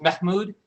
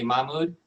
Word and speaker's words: Mahmood: Yeah, it's there's a little bit of an H, so it's actually pronounced Mahmood. So it's like it's a very soft H, though.